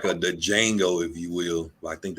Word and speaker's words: Django: It's kind of like the Django, if you will. I think they said the D is silent, so it.